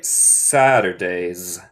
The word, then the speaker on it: Saturdays: So, el primer S es como serpiente, Saturdays. La última es como abeja, Saturdays.